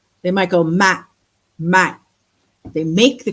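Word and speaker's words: ម៉ាក់: Another thing that they catch you on is there's this silent consonant on the end of words. Like I was saying, the word for mom is Mac, like Mac, but they don't always say that K like Mac.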